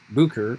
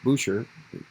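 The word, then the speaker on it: Bucer: calvin was determined to return to basel uh where he had been to resume his studies but another uh reformer martin bucher boucher pronounced both ways who had won was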